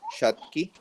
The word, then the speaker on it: Schottky: Whereas, Schottky diodes, so that's pronounced as Schottky. German man, no?